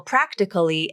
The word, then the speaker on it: practically: this town you know practically everyone in this town i prefer to use the pronunciation with vowel syncope practically the second a is dropped from the pronunciation and it is pronounced as three syllables practically i think this